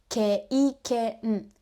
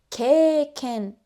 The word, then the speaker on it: 経験: For example, experience, we don't say kei-ken. we say 経験 extending a.